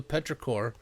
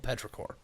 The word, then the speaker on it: petrichor: petrichor, and it's spelled completely different. It's spelled like ichor, I-C-H-O-R, like I think it's the Greek word for blood, maybe.